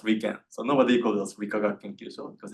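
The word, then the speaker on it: 理化学研究所: And this is pronounced as Wikagak Kenkyusho.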